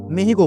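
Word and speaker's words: México: যদিও মেক্সিকানরা এই নামটি উচ্চারণ করে থাকে মেহিকো বলে।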